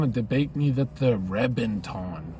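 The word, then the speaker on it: Reventón: I remember someone was trying to debate me that the Reventon, or it's Reben, right? With a V, but you pronounce it like that.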